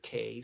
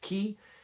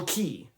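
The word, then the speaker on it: Cay: that looks like Fear K C a Y. I pronounced it K instead of key. And that commenter was 100% correct. It is pronounced key.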